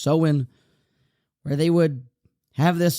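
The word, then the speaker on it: Samhain: of the seen Nation I thought it was saan but apparently it's pronounced soen where they would have this sort of Festival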